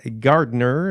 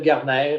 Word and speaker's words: Gardner: ah tout à fait c'est d'origine irlandaise donc mais en France il m'appelle Garner et puis on comprend tout merci Daniel ben je